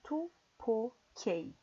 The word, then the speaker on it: 24K: Então, em coreano, a pronúncia seria tu po k.